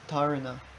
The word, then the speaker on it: dharana: How would you pronounce that? Dharana.